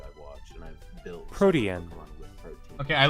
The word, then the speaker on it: Protean: Oh, it's almost as if they named it after the actual word that is pronounced Protean.